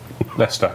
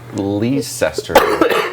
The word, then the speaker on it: Leicester: They have a city here that is genuinely, it's spelt, and without hearing it, you're going to say it how it's spelt. It's spelt like Leicester, like Leicester or something.